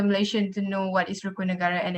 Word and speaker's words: Rukun Negara: What does Raccoon Nagara mean to you? How would you explain it to a foreigner? You mean Rukun Negara, is it? The pronunciation.